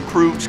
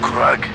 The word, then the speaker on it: Krug: call hey you sure krug's going to go straight back to Jericho without Jericho he's nobody and it's pronounced kug not Krug kug blew the ammonia